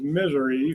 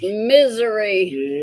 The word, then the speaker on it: Missouri: Missouri's been pronounced to me as misery for years. It's misery.